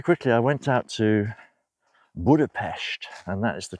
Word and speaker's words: Budapest: So very quickly I went out to Budapest, and that is the correct pronunciation.